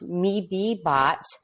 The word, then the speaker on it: MeBeBot: be here today that the company is actually pronounced me be bot and maybe boxes yeah